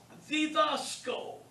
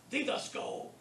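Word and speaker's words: διδάσκω: All right, the next one is didasko. Notice the accent is on the alpha. It isn't on the iota, didasko. It's on the alpha. That shows you how to pronounce it.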